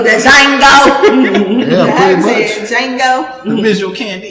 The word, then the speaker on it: Django: Django. The visual candy. The D is silent.